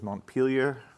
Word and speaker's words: Montpelier: The New England pronunciation was Montpelier and Barry.